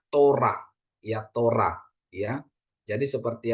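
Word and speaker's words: תורה: oke terus yang kedua ada t ya ada untuk o gitu ya Ada Res ada kamats ya jadi bacanya Tora ya Tora ya jadi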